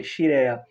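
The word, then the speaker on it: Scirea: Os mais novos, procurem no internet quem foi Gaetano Xireia. escreve-se SC Esquirea, se pronuncia Xrea.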